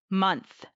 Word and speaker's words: month: It is that ending sound. You have to stick your tongue out slightly between your teeth for the T sound. Month, not months.